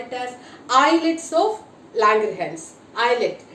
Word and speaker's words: islets: The cells which are present in the pancreas, will call it as islets of Langerhans. Islet. S is silent here and we have to pronounce I.